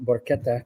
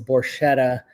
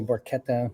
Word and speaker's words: Borchetta: And it's funny because yes, you do pronounce my name Borquetta correctly, but the family name is Borchetta here in America. I'm the only Borquetta, me and my son. So you actually say Borchetta bourbon.